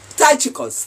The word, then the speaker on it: Tychicus: How do you pronounce it? Tychicus, Tychicus.